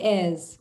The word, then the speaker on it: heirs: So basically it's referring to the heirs or inheritors. I write this in English because we don't pronounce the H in English.